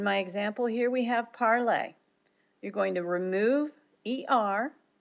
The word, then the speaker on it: parler: And this, the accent over the E tells you that you're to pronounce that E like a long A. Notice I'm saying parler, parler.